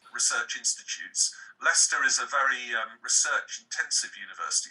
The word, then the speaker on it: Leicester: It's actually pronounced Leicester, and American people always struggle with this word. Leicester.